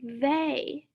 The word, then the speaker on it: they: do you notice about they yeah they starts the same as then then and they both start with the th diagraph and it makes the move sound and they they also rhymes with say i hear the same